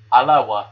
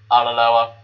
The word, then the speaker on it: Alloa: Yes, it's Alloa, not Alaloa. If you can't pronounce it, don't even bloody try.